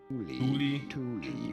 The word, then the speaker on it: Thule: It is to be said, Thule brand from Sweden. Thule for some reason found is Thule with Fucking trash video.